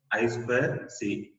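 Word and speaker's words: I²C: first one in the integrated circuit this is pronounced as as well see as well see so this is a synchronous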